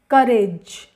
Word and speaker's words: courage: Courage, courage. इसमें O silent है, little O is silent in this word.